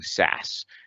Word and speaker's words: Sass: And then lastly, for our theme development, we're using Sass. CSS. It's generally pronounced Sass, and that gets compiled down to CSS, just like TypeScript gets compiled down to JavaScript.